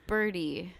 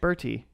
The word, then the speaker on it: Bertie: was a her name of the bird no pronounced Bertie Bertie it's so pronounced birdy it's fine but what